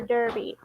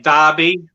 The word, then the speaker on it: Derby: Brits say dar for B for Derby." Yeah. We say Derby here in Australia, not Derby.